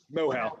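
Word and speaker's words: Moehau: Well, and I think with this New Zealand, how's that pronounced? Mohow? Mohow, yes.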